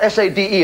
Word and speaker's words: Sade: Sadie, spelled S-A-D-E, and pronounced Sade.